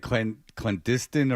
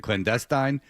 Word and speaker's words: clandestine: I said I think I said clen clandiston or something like that instead of clandestine and I uh and